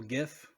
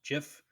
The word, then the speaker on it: GIF: to 96 and if you made a little gif or some people incorrectly pronounced jiff of the territorial swaps in afghanistan it's a